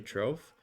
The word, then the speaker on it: Troff: "Oh, it's actually Troph," but every time you say it, your accent hides it enough Yeah, that that's I good.